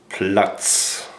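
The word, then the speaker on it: Platz: Down in German is plut. Plots.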